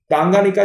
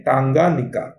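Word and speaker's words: Tanganyika: सही नहीं लिखा है, इस प्रकार से आप इसको लिख सकते हैं टांगानिका, टेंगानिका भी आप इसको बोल सकते हैं, टेंगानिका भी बोला जाता है।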